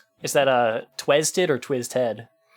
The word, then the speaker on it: Twiztid: Is that uh twisted or twizzed head? Twizz head. Okay. Okay. I I've seen way more people spell it that way and I'm like, you are.